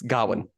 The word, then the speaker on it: Gawain: Yeah, it's Gawain. That's how you pronounce it. Gawain. It's spelled Gawain. I've always said Gawain. Yeah, but it's like a Celtic name, Dad. It's Gawain.